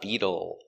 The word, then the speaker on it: Beetle: Pronunciation. Beetle. B. E. B. We change a t to a d sound between vowels. So it's bead bead. U beetle. The dark L with a tongue in the back.